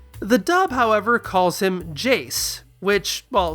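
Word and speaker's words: Jheese: It's not entirely intuitive based on the spelling that this should be pronounced Jace and not Jace, as in Jace's names are so complicated.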